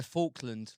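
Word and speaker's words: Falklands: Faulland like a fork.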